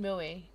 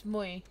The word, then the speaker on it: Mui: that involve mui muy I keep saying Millie it's mui am I me and